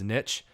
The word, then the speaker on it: niche: cringing right now because supposedly the correct pronunciation is niche. And I hate that, and I've always hated that, and I will die on the hill that it should be pronounced niche.